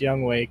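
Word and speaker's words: Younghoe Koo: ho is pretty cool the real way you pronounce it's young way C but you know it says Ho listen I don't know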